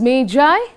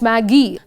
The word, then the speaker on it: Magi: magi remember children it's pronounced as meijai not maggie this story was written